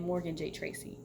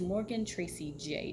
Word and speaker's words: Morgan Tracy J: I've been saying Morgan J. Tracy. It's Morgan Tracy J.